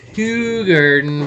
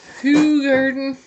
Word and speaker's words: Hoegaarden: we gotta say uh apparently everyone pronounces it hugh garden but me who garden or whatever ho garden it says whole garden c double a who garden you know what i'm